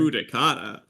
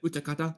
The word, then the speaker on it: Utakata: Udakata. Oh, My that does God. not count. I could not She understand had the no pronunciation idea for the who life that of me. was until I said Utakata like that.